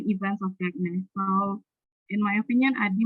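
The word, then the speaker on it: Gagné: Well, actually, there is another one called Bloom and Gagne, if I'm not mistaken, that's how we pronounce it, Gagne 9 events that is usually used by teachers at school to make their lesson plan.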